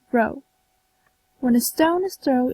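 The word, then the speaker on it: rho: is called C where the funny looking p is pronounced row when a stone is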